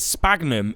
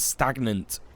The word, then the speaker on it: sphagnum: yeah oh is it sphagnum is that how you say it i thought it was stagnant like a stagnant bog or something is that how you say it s-p-a-g-n-u-m sphagnum yeah there you go